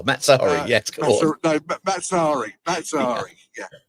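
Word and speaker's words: Mazzarri: Maserati. Oh, that's a mispronunciation too far. Mazzari.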